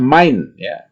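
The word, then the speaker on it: mein: nama saya dan main ini adalah bentuk May seperti dalam bahasa Inggris ya tapi diucapkan adalah main ea2 ucapannya seperti Ah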